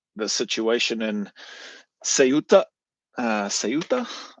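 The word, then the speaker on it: Ceuta: Uh, suta I think is how you pronounce it. The Spanish way of pronouncing it, but I think westerners or or non- Spanish people I think say suta or something like that.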